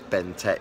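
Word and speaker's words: BnTeT: I've got to keep remembering Tet right, because it's said B-N-T-E-T, but it's Ben Tet is how it's said.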